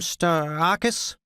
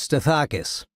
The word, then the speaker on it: Stathakis: "Stathakis?" he said, mispronouncing my name. "It's Stathakis. Who's this?"